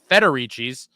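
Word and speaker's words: Federici's: You're putting an extra R uh after the F. It's just Federicis.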